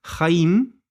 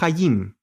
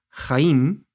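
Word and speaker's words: חיים: con vida por ejemplo la palabra jaim no hayim jaim es vida empieza con una get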